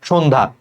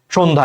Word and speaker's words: সন্ধ্যা: তুমি উচ্চারণ করো তো সন্ধ্যা সন্ধ্যা এইযে দেখ সকার হয়ে গেছে সহকার আর সটা কিসের মত উচ্চারণ হচ্ছে শীষ ধ্বনির মত সন্ধ্যা তাহলে শীষ ধ্বনির